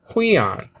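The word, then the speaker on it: υἱόν: syllables over here okay huion okay so it's translated into sun s-o-n and then uh h-u-i-o-n okay not u-i-o-n but h because of the rough breathing marker over the iota and you do that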